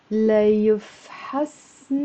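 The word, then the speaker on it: ليفحصني: جمعة الماضية رحت على العيادة ليفحصن الحكيم. لا يفحصن. It's four syllables with a liaison.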